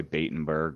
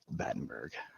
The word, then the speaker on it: Battenberg: whole life people uh people tend to mispronounce my last name which is battenberg they'll either say baitenberg or well usually that's honestly the most common one that i've ever gotten is batenberg but it's it's bettenberg i don't know how we added another syllable but nice um i